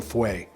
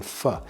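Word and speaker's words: Feu: And I got corrected cuz I was saying Vulcan Fway, but apparently some French speakers corrected me, it's Vulcan Fa.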